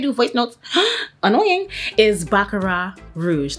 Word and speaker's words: Baccarat Rouge: Is Baccarat Rouge. The T is silent, okay? This is from France, okay?